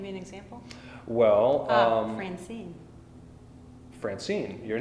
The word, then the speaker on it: Francine: as a single foot we can see that the stress falls upon the second one and so that's what